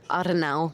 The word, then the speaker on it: Arnau: Arnau. That's how you say it in Spanish.